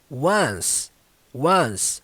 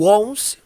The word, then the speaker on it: one-on-ones: primeira palavra dessa frase embora ela Pareça que é 11 11 não ela segue a pronúncia do número um humano mano você só vai colocar o S no final one-on-ones Então não é 11